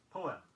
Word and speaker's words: poem: Here's a 2-syllabled word, often incorrectly pronounced as a 1-syllabled word. Poem, P-O-E-M.